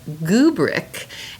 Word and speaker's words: Goobric: My next one is called Goobric, that rhymes with rubric.